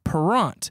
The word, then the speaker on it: Parent: My middle name is Parent. Oof. It is my mom's maiden name. Okay. And technically, it is supposed to be pronounced Parent. French Canadian.